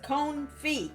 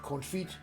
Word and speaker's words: confit: the right way though it says cone feet yeah come feet confit on y'all i know it's telling you that you got to get that grip on your orange you say here how to pronounce it on yawns say it with me confit the onions that's fridge